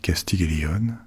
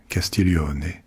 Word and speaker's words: Castiglione: Je dis Castiglion à la française, mais il faudrait plutôt prononcer son nom Castillon parce qu'elle était italienne et elle a reçu